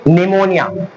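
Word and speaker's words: pneumonia: अब आप बोलोगे कि निमोनिया यहां पी क्यों आ रहा है पी इसलिए आ रहा है पी की आवाज नहीं आ रही निमोनिया पी तो आई आवाज नहीं आ रही मतलब साइलेंट वर्ड है ये ध्यान रखना है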